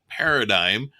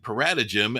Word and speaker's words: paradigm: fact that i was grossly mispronouncing paradigm while spelling it paradigm and saying paratajim and incorrectly telling people